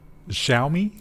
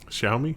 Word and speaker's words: Xiaomi: was like um yeah they always correct our uh pronunciation of this xiaomi xiaomi xiaomi tell me i think it's what shall we we usually use as more of a z and we were corrected for that so i think it's